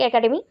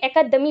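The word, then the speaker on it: Akademi: गया है संगीत नाटक अकेडमी जिसको एक्चुअली अकेडमी ना बोलके अकादमी बोला जाता है अकादमी हिंदी के अकॉर्डिंग तो उस अकॉर्डिंग स्पेलिंग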